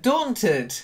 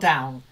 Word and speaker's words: daunted: e named yes but daunted not down Dawn daunted try it yes daunted that's it